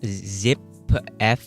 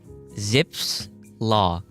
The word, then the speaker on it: Zipf: Zip F? I don't know how you pronounce it. Zip. It's spelled ZIPF. Zipf's Law.